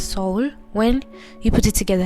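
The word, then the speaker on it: Seoul: pronounced as soul is is actually pronounced as soul when you put it together it's called soul soul not cell as you guys can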